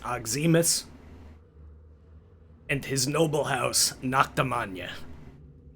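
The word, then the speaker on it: Noctemagne: You are import Noctum ruled by Prince Regent Aimus and his noble house Noctam spelled like Charlemagne but with Naka instead of Charl.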